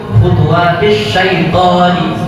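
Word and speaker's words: خُطُوَاتِ الشَّيْطَانِ: Kalau berhenti syaiton disambung khutuwatis syaitoni. Nah, berubah ya.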